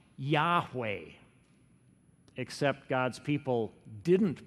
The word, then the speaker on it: Yahweh: was a special name for God it was pronounced Yahweh except God's people didn't pronounce it the Israelites